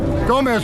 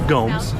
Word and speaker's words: Gomes: Gomez, would you like some case law? Rebar. Yes, sir. Please stop mispronouncing my name. It's Gomes, okay?